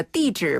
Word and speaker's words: 地址: 사실은 준비할 때 제가 地址 발음 주의하시라고 짚어드리려고 했는데 네. 정병진 아나운서 너무 잘해가지고 저는 그냥 막 따라하는 건데요. 이게 네. 칠 발음이 네. 칠을에서 약간 좌우로 약간 으깨주면은 발음이 나네요.